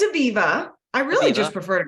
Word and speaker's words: Aviva: action how would I say it yeah it's Aviva I really just prefer to go buy a